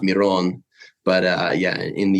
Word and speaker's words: Miron: uh would be pronounced Miron but uh yeah in the US I I tell people it's it's more that's how most people know me it'd be like phonetically it would be spelled m-e-r-o-n-e yeah well at the